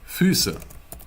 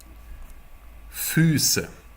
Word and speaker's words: Füße: And then we have Ü, Ü. Your lips are more pointy, you know? It's really hard. Let's pronounce some words with this. I think this is the most difficult umlaut you could encounter. Füße, which means feet. Repeat after me. Füße. Füße. Tür, which means door. Tür. Für, which means for. Für. Thank you. Try pronouncing these 3 words on your own right now.